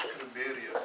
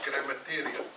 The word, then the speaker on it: grammarian: We've got somebody who's authored a few books, and he's consultant to large companies, and he could never pronounce grammarian. He says grammatarian.